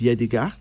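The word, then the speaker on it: Yehdega: Pronounced Yedega.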